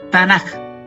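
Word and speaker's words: תנ״ך: La letra Kaf, que sería esta letra, se pronuncia suave como J, no como K. Por eso queda como Tanaj y no Tanaj.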